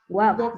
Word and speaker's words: walk: What I do know is this: if you walk by the Walk. No L, it's a silent letter.